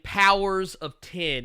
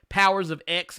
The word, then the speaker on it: Powers of X: powers of 10 and I know you see an X there but Jonathan Hickman has come out and said that this is actually a 10 not an X you can pronounce it powers of x if you choose but it uh but Jonathan Hickman was very vocal about the fact that is actually powers of 10 uh House of X